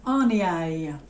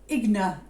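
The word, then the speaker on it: Aigner: And it is Etienne Arnier. Or Igna, if you just said it normally. But apparently it's Arnier.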